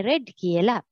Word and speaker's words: read: හැබැයි ඒක pronounce කරන්නේ read කියලා.